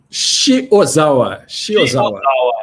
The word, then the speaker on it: Shiozawa: me ensina a pronunciar o seu sobrenome certinho para não errar. Shiozawa.